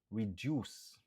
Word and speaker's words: reduce: Kon sa ou gen do attendre kek moun ki di reduce. Qui signifie réduit. 2 syllabes, nous accentuer sous deuxième nan.